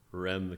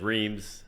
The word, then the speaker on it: Reims: visited Charleston, gone to the Rem Cathedral, I'll say it that way. Yeah. To say it, to pronounce it correctly, you have to say something like, Yeah. You got to roll it.